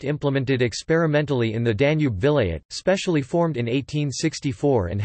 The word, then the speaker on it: Vilayet: The Vilayets, Turkish pronunciation, Vilayet, of the Ottoman Empire were the